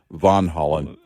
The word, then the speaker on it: Van Halen: when Van Holland, which oddly enough, the real pron pronunciation of their last name is Van Holland.